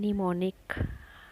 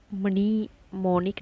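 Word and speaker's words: mnemonic: में चलना work सैलेंट एम जैसे देते हैं कि निमोनिक है इस कंप्यूटर याद कारी ई है तो निमोनिक बोला हमने हमने मनी मोनिक नहीं बोला निमोनिक एंड साइलेंट हो गए यहां पर तो एंड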